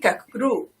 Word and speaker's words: Kachroo: Yes, it's Kachroo. Did I pronounce it? Kachroo. See? Yes, I'm Kachroo.